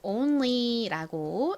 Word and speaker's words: only: only 이죠 only 한국식으로는 only라고 쓰고요 실제 발음은가 그냥 O 소리가 아니라 o o 이렇게 발음이 나서 only only 요렇게 발음해 주시면 됩니다이 단어의 의미는 뭐였죠 오직